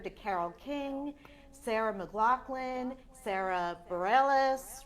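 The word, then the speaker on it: Sara Bareilles: you've been compared to Carole King Sarah McLachlan Sarah Bareilles right is that how you sell her say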